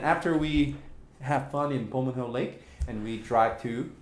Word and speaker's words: Bomun: Yeah, but I don't know how to pronounce the previous part. Bomun.